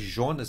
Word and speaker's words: Jonas: Se escreve Jonas, mas fala Jonas.